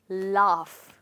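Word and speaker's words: laugh: में क्या कहते हैं लाफ ओके नॉर्मली हम अगर लाफ सुनेंगे तो हम सोचेंगे कि हमें इसको एल ए एफ लिखना चाहिए बट नो हम इसकी स्पेलिंग ऐसे लिखते हैं ए यजीएच तो जैसे मैंने आपको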